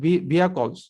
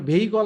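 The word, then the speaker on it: vehicle: two benefits of automated ভিয়াকলস শুধুমাত্র automated ভিয়াকলস এর এটা ভেহিকল আমরা যেটাকে বলি এটার সহি উচ্চারণ হচ্ছে ভিয়াকল ভিয়াকল বিআই এস সি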